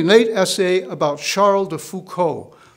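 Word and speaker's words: Foucauld: essay about charle de fuco that's that's foucault spelled f-o-u-c-a-u-l-d he was not spelled the same in no relation to the philosopher michel charles de fuco was a famous hermit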